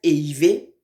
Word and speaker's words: éhiver: Donc, le verbe éiver, c'est E, H, I, V, E, R. Le verbe éiver. Vous voyez comment on prononce ça, non?